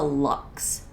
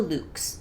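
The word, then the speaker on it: Luxe: comment on my channel that's the Lux leaves not the Luke's leaves and I apologize to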